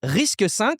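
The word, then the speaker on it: RISC-V: J'oserais dire d'avenir hein, c'est Risque 5. Ça s'écrit Risque V avec le 5 en chiffre romain.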